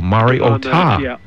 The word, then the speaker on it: Mariota: When you released the information, the accent that was put on the phonetic spelling was on the last syllable. Mariota. On the ta. Mariota. And it's if you ask Marcus, he'll explain it. There is emphasis on the ta. It's just not as much as was made out on the ESPN broadcast.